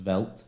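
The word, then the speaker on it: Veldt: Although what I do find interesting, so on this planet, so this is this is planet of uh is it Vault? Vault. Pronounced Velt.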